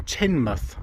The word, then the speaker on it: Teignmouth: in that instance and ends up in tin muth so it's pronounced tin at the end so it's teen tane